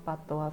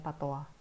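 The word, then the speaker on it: patois: di buku pat pat Pata itu sebenarnya ini ya dari bahasa Perancis makanya bacanya Pata Hm mana ya tadi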